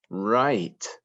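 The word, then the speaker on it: write: make the words r remember we don't hear the w when it comes before the r r eight right um we have a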